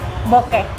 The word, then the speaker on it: bokeh: dan juga ada sintetik bokeh. Nah, jadi namanya bokeh ini dari bahasa Jepang bokeh, B-O-K-E gitu. Nah, kemudian kalau di bahasa Inggris dibilangnya bokeh juga pengucapannya.